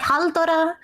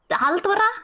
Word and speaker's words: Halldóra: Halldóra, like R, like a roller R's, like that.